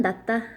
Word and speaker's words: 낫다: 요 낮다라는 말은 네가 아빠보다는 낫다. 네가 동생보다 낫다. 희수 얼굴이 송혜교보다 낫다. 뭐 요럴 때 쓰는 거라서 낮다라는 거는 더 우월하다? 요런 뜻입니다. 요거일 때는 낫이 소리가 좀 길어요.